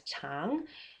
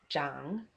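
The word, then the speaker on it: 长: uh this one and you'll see two pronunciations of the homework one is Chang and one is uh Jang which sounds almost the same so CH means long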